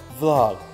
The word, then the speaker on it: vlog: 그리고 이렇게 알파벳 V로그 아닙니다, 여러분. 그냥 단어 되는 거예요. Vlog.